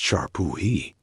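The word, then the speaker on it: šar pūhi: One of the most fascinating and disturbing practices was the substitute king ritual, or Zarpiki, pronounced Sharpuhi.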